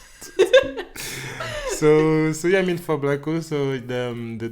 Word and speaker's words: Blaakow: So yeah, but guys, just Blaakow. Okay, the W is a customized, it's like a H that you don't pronounce.